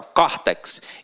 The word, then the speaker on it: córtex: Detalhe, aqui agora a pronúncia é aberta, ó, córtex, então leva o acento agudo.